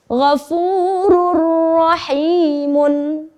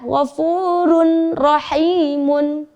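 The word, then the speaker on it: غَفُورٌ رَحِيمٌ: Maka hukumnya idgham bila gunnah, kita membacanya harus lebur menjadi ghafurur rahimun. Ghafurur rahimun. Ghafurur rahimun. Ya. Tidak ada lagi yang membaca ghafurun rahimun. Itu adalah salah, ya.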